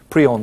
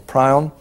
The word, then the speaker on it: prion: called the prion protein there's a difference in American and English pronunciation not an important one prion or prion and this protein is